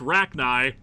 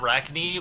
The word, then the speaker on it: Rachni: use encore gross yeah those things are pronounced rachni tentacle spiders gotcha wait not wreck knee like the link and